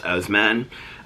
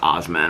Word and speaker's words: Oseman: They're based on the graphic novels by Alice Oseman. I think that's not how you pronounce her name. I think her name is pronounced Alice Osman or something like that, but it's Oseman.